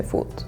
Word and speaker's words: foot: We don't really like pronounce the T. We don't say like foot. Maybe if you're being very careful, you would, but we usually just kind of chop off the T and it's like foot.